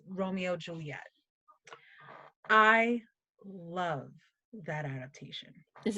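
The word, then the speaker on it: Romeo × Juliet: adaptation called Romeo Julia you don't pronounce the hex it's Romeo X Juliet it's just Romeo Juliet I love that adaptation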